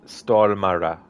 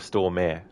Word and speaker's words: Stormare: So it's Stormara, is it? Instead of Stormare.